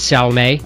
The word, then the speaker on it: Salme: difference uh no um I've always been told the pronunciation is salme okay so that is what we've always been passed down through the family yes all right so